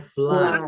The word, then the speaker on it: flood: banjir in English iya tulisannya flut tapi bacanya flat flat flat And do you know how to say gempa bumi in English?